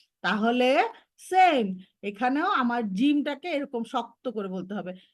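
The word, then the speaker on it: ج: তারপরে কি করব আমরা, তারপরে পড়বো জিম, জিম, জিম।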